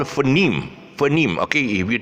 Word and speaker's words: phoneme: pronounce it as um most people pronounce it as phone me phone me instead of phoneme can you see that